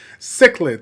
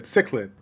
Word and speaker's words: Cichlid: to be criticized as far as the uh pronunciation goes we looked it up we googled it because we're Millennials right cichlid cichlid yeah so with cichlid here uh she's got